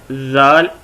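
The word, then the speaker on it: ذال: یہ ہے زال، اور اس کے اوپر 1 نقطہ ہوتا ہے یہاں پہ زال.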